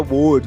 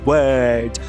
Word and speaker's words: word: que todo mundo erra, todo mundo fala que é word, word tá errado. Fema o não existe no inglês. A pronúncia é word orelha e e e aprender não é le, né?